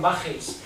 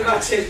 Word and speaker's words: baches: No, pues es muy gracioso porque los alemanes no pronuncian la che, sino pronuncian bajes. En vez de baches, bajes. Queda un poco.